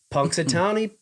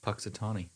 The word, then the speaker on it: Punxsutawney: In 1887, first Groundhog Day observed at Gobbler's Knob, Punxsutawney, Pennsylvania. Puxatawny. Punxsutawney. Punxsutawney. No, Punx. Punxsutawney. Punx. Punxsutawney. Punxsutawney. Punxsutawney, Phil. Punxsutawney Phil. Maybe the N is silent. Nope.